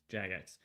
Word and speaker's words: Jagex: I do, but like knowing the history of Jagex, is that how you pronounce it? Jagex? Java Gex. Yeah, so yeah. Jagex.